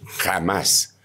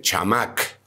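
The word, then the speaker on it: חמס: palabra en el diccionario la encuentran con nombre jamás algunas algunos diciones le ponen chamac pero la pronunciación es así como te estoy diciendo en la mayoría de diccionarios ahora eso que tiene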